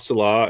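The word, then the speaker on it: Saleh: No, it's Salah. Salah. Salah. Okay. Because Salah, I heard somebody pronouncing it Salah.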